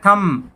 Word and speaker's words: thumb: THUMB, और बोला जाता है थम। यहाँ थंब नहीं बोला जाता, थम बोला जाता है। थम होता है अंगूठा। अंगूठा। तो यहाँ पे बी साइलेंट है।